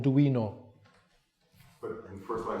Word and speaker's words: Duino: Well, the first elegy and the one that I pronounced with the D, the Duino, have you said? Duino.